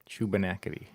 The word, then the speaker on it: Shubenacadie: Shubenacadie.